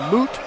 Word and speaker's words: moot: but that becomes a moot point. Some people say a mute point, but that it should be moot. Rick Springfield in the song Jesse's Girl, he pronounced it correctly.